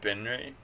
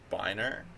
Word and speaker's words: binre: It's I pronounce it Binri. Although I think like if you were like a linguist, a more proper pronunciation would be like Biner, but I don't like that pronunciation.